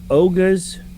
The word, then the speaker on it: Oga's: establishment, but you have Oga's. Let me make sure I say it right. Yep, it is an apostrophe S.